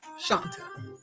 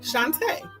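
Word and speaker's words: Shawnta: So when most people see it, it looks like Shanta. Very easily solved. I tell you it is a long A at the end. So if you said Shanta now say Shantae, right?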